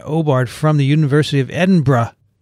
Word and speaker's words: Edinburgh: i fell victim to the classic blunder of saying edinboro instead of edinburgh right but i say it correctly now when i was in